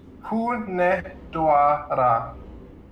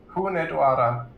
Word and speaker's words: Hunedoara: Vijar, Eliza here is correct. Hunedoara. Hunedoara. Sure. That's how you say it.